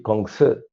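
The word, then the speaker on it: 孔子: Chino se dice Kongzi.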